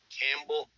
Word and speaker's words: Campbell: way you pronounce it Campbell oh yes so the the p is silent like the K and